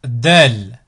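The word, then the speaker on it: دال: Ensuite, Del, Del.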